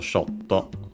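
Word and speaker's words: ショット: But we quickly check also shotto. It's accented on the first syllable. Shotto.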